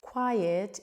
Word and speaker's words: quiet: Quiet is when you're very silent.